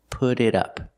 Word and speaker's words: put it up: Put it up. Put it up. The T in put changes to a fast D, put put it.